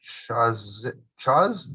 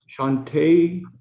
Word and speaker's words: Shantae: I believe it's pronounced Chaz? Shantae.